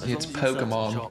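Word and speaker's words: Pokémon: You didn't pronounce it right. It's Pokemon. Miss it.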